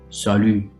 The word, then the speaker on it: salut: french sally sally okay go around your lips like that and say salu you can repeat with